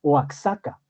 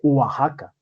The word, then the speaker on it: Oaxaca: méxico que se llama oax acá sí pero se lee realmente oaxaca si con jota o si fuera en